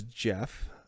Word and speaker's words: Gef: Its name was Jeff. I think it's spelled GEF.